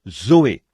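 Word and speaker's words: ζωή: Et en grec, pour dire la vie de Dieu ou la vie éternelle, on se sert du même mot que l'on prononce, Zoé.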